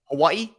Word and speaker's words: Hawaii: think easy post does you pronounce Hawaii correctly and it makes my skin crawl Hawaii yeah you said that the right way you say it like the people who live on the island and forget it Forgetting